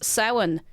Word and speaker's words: Samhain: Samhain. Samhain. Samhain. How do you know the MH is supposed to be pronounced in Ireland?